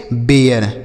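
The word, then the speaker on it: bare: बाद बी ए आर ई इसे हम पढ़ेंगे बेयर ठीक है तो ए के बाद अगर आर इ रहे तो ए का उच्चारण होगा जैसे dear mayor केयर शेयर बेयर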